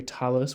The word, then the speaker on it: tallis: And also we have here Talis, which is an Ashkenazi pronunciation of the letter Taf, the same letter.